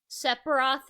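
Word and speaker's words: Sephiroth: How do you pronounce the first person's name? Sepharoth. Sepharoth is the right answer.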